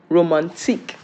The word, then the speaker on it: romantique: Okay, romantic in English. How is it pronounced in French? Romantique.